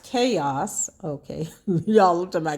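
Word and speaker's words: K.O.S.: b group named k-o-s stands for kansas city original sounds but pronounced chaos okay y'all looked at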